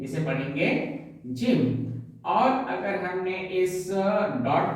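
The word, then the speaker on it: ح: इसे आपको यहाँ से हलक से यहाँ से प्रोनाउंस करना है, ठीक है। प्रोनाउंसिएट ऐसे करना है, हा, हा, हा।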